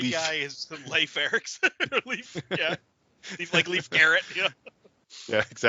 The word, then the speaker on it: Leif: So if Burke is from Bark, this guy's name is Leif, like Leif Erikson. Yes. Or Leaf, or how do you say that? Yeah, that's him. So the nerdy Leaf. guy is Leif Erikson. Leaf, yeah.